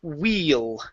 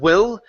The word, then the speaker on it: wheel: still there ok ok let's go to wheel ok instead of will wheel wheel real good all right now